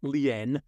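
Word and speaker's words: lien: commercial lean now this the lean is spelled l i n Leen some people pronounce it but it's a commercial lean and we're going to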